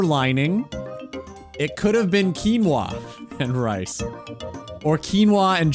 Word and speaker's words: quinoa: It could have been quinoa and rice or quinoa and chicken.